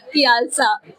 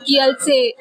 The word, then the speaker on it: Kielce: because here they said Kielce, but in English pronunciation it's different. We Yeah. said it as Kialsa, Okay. and they didn't understand what is Kialsa. So you have to pronounce it Kielce.